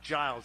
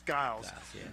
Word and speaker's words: Guiles: Guiles by the way it's not Giles it's Giles uh you know I got